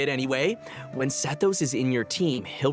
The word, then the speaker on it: Sethos: from his desert Heritage I'm pretty sure it's supposed to be pronounced sethos it's an Egyptian name he's also talented in